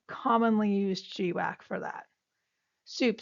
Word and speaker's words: SEWP: Then there's NASA soup and soup is spelled sewp.